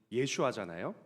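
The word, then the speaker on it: ישוע: 그런데 오늘의 성경 본문은이 호세야, 예언자 호세야의 이름도 참 중요한 의미를 가지고 있습니다.이 호세야와 또 여호수아 그리고 예수님의 이름의 발음이 예슈아잖아요.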